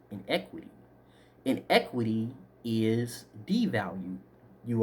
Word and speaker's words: iniquity: equity is value gain iniquity is pronounced wrong it should be pronounced in equity and equity is devalued